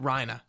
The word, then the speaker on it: Reiner: watch the subtitles so you've been pronouncing rhino reiner yeah like they pronounce it rhina right like it's like a german word yeah it's clearly a